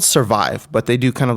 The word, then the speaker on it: SVRvive: but it's the uh svr so it's called survive but they do kind of like a play on words it's spelled svr v i v and it's uh